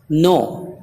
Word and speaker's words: know: ہوا کے خاموش یعنی سائلنٹ رہتا ہے، جیسے نو، KNOW نو جاننا، تو دیکھیے ان سے پہلے